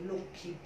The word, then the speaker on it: লক্ষ্মী: হসন্ত দিলাম, ক্ষরশিকার চন্দ্রবিন্দু লক্ষ্মী। তাহলে তোমাদের উচ্চারণের বানানে যখন লক্ষ্মী আসবে তোমরা লক্ষ্মী বানান লিখবে লক্ষ্মী, একটু করে নাসিক্য বলছি আমি, দেখো লক্ষ্মী একটু করে নাসিক্য উচ্চারণ করছি খি, ওইটা ওরকম ঠিক।